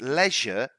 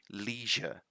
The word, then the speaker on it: leisure: to this one because leisure is the british pronunciation american pronunciation would be leisure leisure so you need to